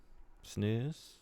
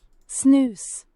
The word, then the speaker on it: snus: Snooze. Snus. Okay, I think I got it. I'll never say snus again. It's a Swedish way to say it, which sadly would be the correct way.